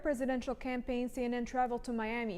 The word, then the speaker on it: Miami: county seat of tiny Roberts County Texas is pronounced Miami it would also be fair to pronounce it